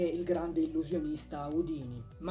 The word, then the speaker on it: Houdini: In realtà la pronuncia corretta non è Houdini, come siamo soliti chiamarlo qui da noi in Italia, ma Houdini.